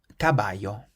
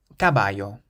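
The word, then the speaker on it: caballo: means socks gtin or gtin how would you pronounce the next word cabayo cabayo this word means a horse and the C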